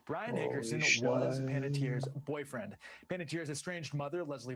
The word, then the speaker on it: Panettiere: All right, so Panettiere is how you say it. I never knew how to say her name. I always said like Panettiere, so anyway, Panettiere.